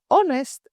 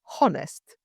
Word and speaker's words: honest: The word honest is honest and not honest. And the word air is pronounced like the air we breathe, not hair.